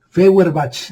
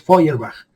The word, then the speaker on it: Feuerbach: Feuerbach, así se lee, pero es Feuerbach. Así se pronuncia en alemán.